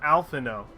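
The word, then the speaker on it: Alphinaud: you sure alpha not because I feel like that D is maybe the diet D is silent alpha no yeah that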